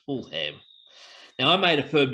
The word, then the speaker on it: Fulham: in my Aussie youth, I'm pretty sure I might have pronounced it as Full Ham. So it's West Ham versus Fulham.